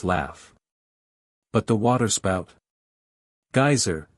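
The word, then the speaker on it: Geysir: the waters the geyser a word the icelanders pronounce geyser and which signifies Fury Rose majestically from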